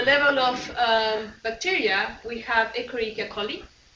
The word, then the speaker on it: Escherichia coli: At the level of bacteria, we have Escherichia coli, and I'm pronouncing in Latin, that's one is E. coli in English. So Escherichia coli.